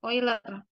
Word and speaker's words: Euler: ya euler tadi ya Tapi bacanya bukan yer ya Jadi ini nama orang juga ini ini nama orang mungkin Jerman ya karena dalam Jerman itu EU itu dibaca oi oiler ya kan negara Jerman